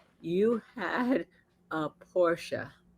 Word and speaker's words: Porsche: said you had a Porsche Porsche it is two two syllables Porsche uh uh 911 uh convertible Yep.